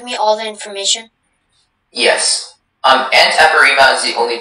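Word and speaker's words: antepirrhema: Antepirema is the only pronunciation.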